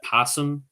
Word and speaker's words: opossum: you should know that opossum is spelt with an O by the way it's a silent but possums in the United